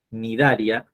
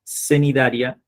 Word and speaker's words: Cnidaria: Cnidaria o celenterados, se escribe con la letra C adelante, Cnidaria, cenidaria o celenterados.